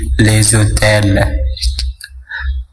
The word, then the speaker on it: les hôtels: Nah di sini dilakukan liaison, yakni membacanya diteruskan ke kata berikutnya, sehingga huruf S pada kata le dibaca seperti huruf Z, jadi les hôtels.